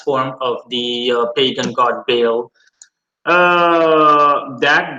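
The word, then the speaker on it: Baal: of the pagan god bale that God pronounced ball bow back in those days was simply meant lower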